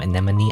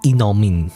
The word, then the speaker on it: anemone: Anemone. Anemone. Anemone. You would think it be enomin like enomes. No it's anemone.